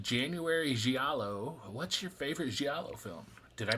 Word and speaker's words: Giallo: What's your favorite Giallo film? Did I pronounce that right?